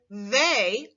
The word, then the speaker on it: they: part of the word the e y this is the tricky part of the word you would probably expect